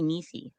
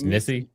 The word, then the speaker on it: Nisi: She called me niecey. That's not how you pronounce it. It's Nissy. Mm.